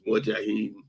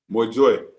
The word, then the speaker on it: Mojoy: That the family name is Mojahim. Well, say it for me, Chief. Am I saying it right? Mojoy. That's the family name.